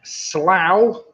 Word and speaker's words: Slough: series the office was set in Slough because that rhymes with the plough as Roland Leung growing